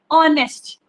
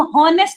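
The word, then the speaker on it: honest: क्यों लगा रहे हैं, उसकी प्रोनाउंसिएशन क्या है, ओ से स्टार्ट हो रही है, ऑनेस्ट। हम हॉनेस्ट नहीं पढ़ रहे, ऑनेस्ट।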